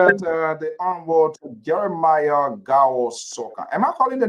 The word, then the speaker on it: Sokan: Honorable Sokan, are you there? You want? Yeah, how are you? Rosianso, okay. How are you? Good to have you here at the Honorable Jeremiah Gao Sokan.